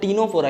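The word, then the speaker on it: Ctenophora: इट is called as टीनोफोरा. यहाँ पे C जो है दोस्तों साइलेंट होता है.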